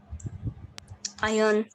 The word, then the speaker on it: iron: What sound is in the beginning? It is I and Iron. un. And There is no r.